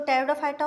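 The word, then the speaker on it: Pteridophyta: गया एंजियोस्पर्म हो गया टेरिडोफाइटा में पी जो होती है वो साइलेंट हो जाती है और जो टेरिडोफाइटा होता है इसमें वैस्कुलर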